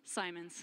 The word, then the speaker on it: Simons: up on the balcony, is it Simons or Simmons? Simons. Oh, Simons! I was wrong. I owe him. Rhymes with diamonds.